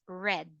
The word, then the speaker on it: read: the present simple but if you are referring into the past tense we read this as red red as in mousi